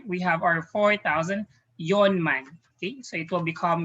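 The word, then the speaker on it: 四万: yawn so forth we have our four thousand yonman okay so it will become young man for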